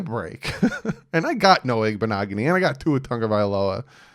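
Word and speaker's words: Igbinoghene: No, Igbenogany.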